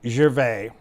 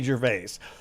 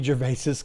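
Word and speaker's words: Gervais: and no, he doesn't pronounce his name Ricky Jervy. He doesn't pronounce his name Ricky Jerves. He pronounces his name Ricky Jerves.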